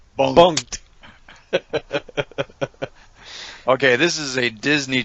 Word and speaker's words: Bunk'd: watched all right so we watch bumped bunked which is spelled b-u-n-u-a-k-a apostrophe d bunked okay this is a